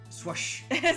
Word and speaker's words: SWSH: So I think they announced the official pronunciation for Sword and Shield. I think it's like SWSH. So swoosh. Swoosh.